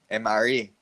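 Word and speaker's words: M-ary: So, dili na siya Mary, ha? MRE. Kung gusto niyo ibulag ang duha, so nice space between sa pag-pronounce sa M o RE.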